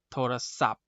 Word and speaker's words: โทรศัพท์: ตัว นั้น นะ ครับ ยัง เห็น ไหม คำ ว่า โทรศัพท์ เนี่ย มี ทัณฑฆาต อยู่ บน ทหาร เรา ออก เสียง แค่ โทรศัพท์ กับ ก็ คือ พอ ผ่าน นะ ครับ เป็น ต้น อ่า มา